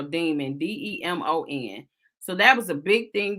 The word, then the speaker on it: Demons: his last name because he's saying it's pronounced demons like dim the light or demons lemons you know like that's supposed to be what it is but it clearly to